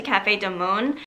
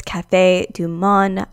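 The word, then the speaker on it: Café Du Monde: early and get to Cafe de Mon okay let's just pause it right here I know it's Cafe Du Monde I don't know why I kept pronouncing it wrong but please just bear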